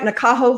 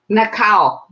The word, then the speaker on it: Nakao: Am I pronouncing your name right, Nakaho? Nakao. Nakao? Mhm. Yes, I'm Japanese, so that's a Japanese name.